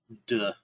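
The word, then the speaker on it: 德: And when you are in a state of wu wei, you generate what an aura of, it's pronounced duh.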